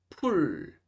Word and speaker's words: 풀: 그리고 친구 친구 펴다 펴다 풀 풀 저 풀도 풀 가지고 와 풀 가지고 와 푸 가지고 와 이렇게 들리는 분들도 계시거든요. 그래서 반드시 풀 끝까지 발음해 주셔야 됩니다.